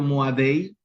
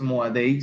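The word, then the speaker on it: מוֹעֲדֵי: Aquí aparece Moade, o bueno, depende si estuvieran en una academia o instituto rabínico, van a leerlo Moadei, pero en hebreo clásico es Moade, no es Moadei, sino Moade, pero se entiende aquellos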